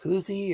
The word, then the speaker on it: koozie: are inclined to drink I've heard it pronounced both ways both Koozie and cozy though yeah yeah I